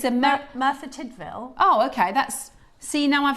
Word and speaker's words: Merthyr Tydfil: I just didn't It just It's spelled. I don't know if I've even said that. No, that is right. Merthyr Tydfil.